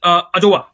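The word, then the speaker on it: Adjoa: Heroine है लेकिन इज अजोवा। तो डी साइलेंट है इसका, मैंने प्रोनाउंसिएशन देखा था, अजोवा पढ़ेंगे उसको।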